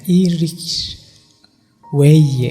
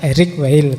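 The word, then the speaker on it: Eric Weil: beliau tinggalnya di Prancis itu kalau pakai lidah Prancis kalau pakai lidah kita mungkin membacanya Erik W kan gitu kalau pakai lidaah Prancis mungkin itu membacanya iris way ya yo lidah Saya masih Jawa situ Jawa di prancis-prancis k sing penting ndak Erik wiil tapi kalian mau baca Erik wiil juga ndak apa-apa l sing penting karepe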